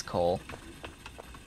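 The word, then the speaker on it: Kole: I might at some point confuse the cat right next to me, because his name is Cole. Except his name is spelled the K, K-O-L-E.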